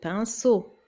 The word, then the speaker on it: pinceau: Bravo, pinceau. Bien sûr, parce qu'il y a le E maintenant après le C, donc ça se prononce ce, pinceau.